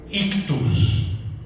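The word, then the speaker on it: ichthys: Y la palabra es ictus. Ictus. Se escribe una I, lo que para nosotros sería una H, que en el griego es una sola letra, también CH, luego TH, una U y al final una S, ictus.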